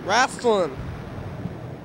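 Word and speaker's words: Raistlin: eyes of time what it means raslin yeah it's spelled yeah Racin r a i s t l i n raslin yeah hourglass eyes is that what it is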